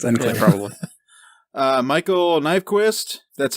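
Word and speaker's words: Nyqvist: Michael Nyquist, that's how you say it.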